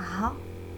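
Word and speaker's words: ها: Son, c'est-à-dire à elle, on ajoute un ha. Ha. Le h il est fort prononcé comme ça, il n'est pas muet. Notre, na.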